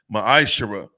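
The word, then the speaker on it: מעשר: of Malachi 3: 8-10 means 10th in the Hebrew it's pronounced maish 10% of every penny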